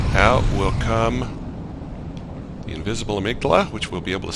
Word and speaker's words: amygdala: and you let the amygdala grab you or emic dala as some people mispronounce it you let the amygdala